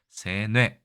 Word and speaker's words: 세뇌: 그렇게 읽었을 수도 있습니다 지금은 그냥 새뇌라고 읽습니다 앞에 것이 장음으로 되어 있네요 그래서 세뇌라고 하면 되는데이 뇌자를 사전에 보시면이 뇌로 읽어도 되고이 뇌로 읽어도 된다 세뇌 둘의 발음이 예전에는 달랐겠지만 지금은 거의 구분이 안 되는 것을 알 수 있습니다 어쨌든 앞의 글자가 장음이지만 평소에는 이것을 지키면서 발음하기란 상당히 어려운 일이겠죠 그래서 세뇌 뭐이 정도면 충분할